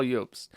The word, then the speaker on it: Jobst: I don't know if you pronounce it Jobst or Jobst. I'm gonna say Jobst because that looks correct to me. He looks Scandinavian, and the J is a Y in Germanic languages.